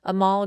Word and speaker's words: Anmol: Amal, and that's ANMOL, the N is silent, and then with Goosehead Insurance.